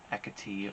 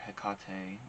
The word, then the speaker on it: Hecate: It's the goddess Hecate or Hecate, but it's spelled Hecate, sometimes with a K instead of a C.